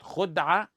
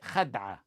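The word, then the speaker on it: خدعة: Khud'a and khad'a are both linguistically correct. Most linguistic scholars say khad'a, al-harbu khad'a, with a fatha on the kha. And some even stated that's how the Messenger ﷺ pronounced it. However, both ways are correct.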